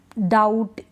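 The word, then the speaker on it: doubt: क्या है यहां पे ये जो बी है ना इन सारे स्पेलिंग्स में तीन स्पेलिंग ऐसी है जहां पर बी हम नहीं पढ़ रहे दैट डाउट सटल ठीक ठीक है बी को प्रोनाउंस नहीं करें बी इसमें साइलेंट है इन तीनों स्पेलिंग्स को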